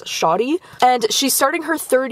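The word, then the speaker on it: Sade: Her name is spelled, like, S-A-D-E, but the audiobook narrator, she's pronouncing it as Shadi, and she's starting her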